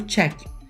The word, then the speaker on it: check: e eu aprendi que qualquer verbo regular que tem a consoante k no final ou som de k a gente vai pronunciar com som de t esse Ed ter som